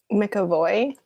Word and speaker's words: McAvoy: McAvoy. The boy has a I mean, it's like James, right? James McAvoy.